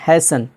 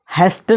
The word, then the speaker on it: hasten: हैसन, जिसका माना होता है जल्दी करना, HASTEN, हैसन, तो क्या हो जाएगा यहाँ पर, हैसन, हेस्टन नहीं पढ़ा जाएगा क्योंकि यहाँ टी के बाद आखिर में EN आया है तो क्या हो जाएगा, टी साइलेंट हो जाएगा।